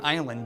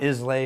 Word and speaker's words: Islay: made in Scotland Iowa means it's on an island just off the lower west coast of Scotland just alphaf Campbelltown it's a spelled is la whaai and pronounced isla okay if not Islay or easily or Isley it's Iowa it was where all the most